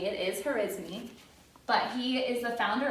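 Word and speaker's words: al-Khwarizmi: a 'muslim mathematician an engines name it's not pronounced charisma it is her is me but he is the founder of algorithms and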